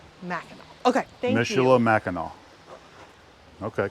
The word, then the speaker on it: Mackinac: Yeah, Mackinac. Mackinac.